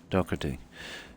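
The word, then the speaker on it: Doherty: his name yeah oh it's spelled normally d o h e r t y I think it might be prounce doy isn't it yeah i' I've heard it pronounced a lot of ways doy Jack doy do h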